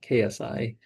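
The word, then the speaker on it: xi: So we have ada right is equal to alpha plus gamma si yeah gamma sai how do you pronounce that sai kasi I think yeah ksi plus beta beta plus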